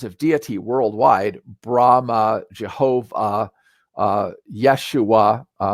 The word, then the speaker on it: Yeshua: deity worldwide Brahma Jehovah Yeshua that's actually the Hebrew pronunciation of the name of Jesus all have that off